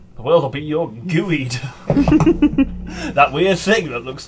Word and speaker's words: geoduck: The world will be your gooeyed. That weird thing that looks like a cock. And it's spelled Geoduck, yeah. That's gooey I duck.